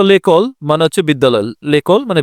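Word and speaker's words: l'école: তাই রুলস অনুযায়ী লো বা লা এর পরিবর্তে যখন শব্দটি ভয়েল দ্বারা বা মড উচ্চারণ শুরু হয় তখন এলঅপস্টপ বসে। যেমন লেকল মানে বিদ্যালয়।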